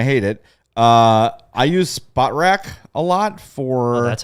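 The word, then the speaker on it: Spotrac: question though on how to say it yeah spot rack oh it is spot spot yeah um so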